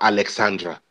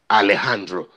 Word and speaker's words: Alejandro: And he went down to the coaches and said, listen, my name is not Alexandra. My name is Alejandro.